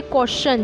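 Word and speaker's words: question: यदि शब्द में एस के बाद टी आई ओ एन या टी के बाद यू आर ई आए तो टी का उच्चारण च होता है, जैसे क्वेश्चन। जैसे यहाँ टी के बाद, जैसे यहाँ पर एस के बाद टी आई ओ एन लग गया ना तो यहाँ पर टी का उच्चारण श हो जाएगा, क्वेश्चन।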